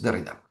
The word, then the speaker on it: Derrida: Levinas y también eh Derrida. Entonces, no parece no tiene acento en la Entonces de Ridda.